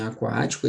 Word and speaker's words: aquático: Em aquático, esse QU aqui não é dígrafo, tá, pessoal? Por que que não é dígrafo, Dani? Porque eu pronuncio o U.